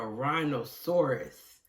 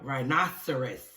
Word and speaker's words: rhinoceros: talking about the rhino i may have mispronounced the rhino and given him a name that sounded like a dinosaur and called him a rhinosaurus however i think the correct name to pronounce it the correct way to pronounce is a rhinoceros a rhinoceros and i